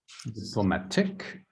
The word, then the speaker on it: diplomatic: And where does it go up? In the end, Diplomatic.